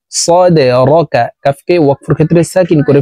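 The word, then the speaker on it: صَدْرَكَ: সদ দাল জবর সদে, দাল কলকলার হরফ নিচের দিকে ধাবিত করে ধাক্কা দিয়ে উচ্চারণ করব। সদে র জবর র, কাফ জবর কা, সদে রকা।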